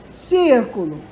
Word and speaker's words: círculo: palavra panela é paroxítona proparoxítona é a palavra com a antepenúltima sílaba tônica no caso essa aqui olha só círculo a antepenúltima Ok Então observa proparoxítona temos aqui a palavra círculo sílaba tônica é a antepenúltima Oi tia porque ele